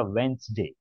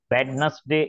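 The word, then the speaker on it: Wednesday: डी ए वाई वेनसडे और उसका pronounce एशन कैसा था वेनसडे वेडनेसडे ऐसे नहीं बोलते वेनसडे ित आगे नेक्स्ट थर्सडे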